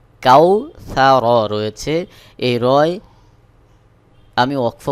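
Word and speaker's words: الْكَوْثَر: সা র জবর র কাউ সা র রয়েছে এই রয় আমি ওয়াকফ করবো অর্থাৎ এখানে আয়াত শেষ অর্থাৎ র এর উপরে জবর রয়েছে জবর সাকিন হয়ে যাবে সহি উচ্চারণ হবে ইন্নাকাল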